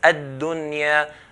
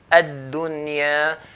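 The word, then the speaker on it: الدنيا: We don't say ad-dunya, dunya. We're not going to merge the nun into it there. Why? Because this is in 1 word. So we're going to pronounce it as ad-dunya, ad-dunya.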